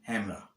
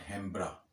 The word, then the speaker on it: hembra: तो जो ये बड़े वाला पार्ट होता है इसे कहते हैं हैमरा। हैमरा, हैमरा, HEMBRA, जिसमें बी साइलेंट होके हैमरा, नॉट हैम्ब्रा, हैमरा।